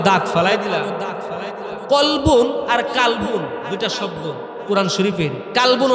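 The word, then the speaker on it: قلب: কলবুন আর কালবুন দুইটা শব্দ কোরআন শরীফের। কালবুন অর্থ কুকুর। কাফ দিয়া যেটা উচ্চারণ করি।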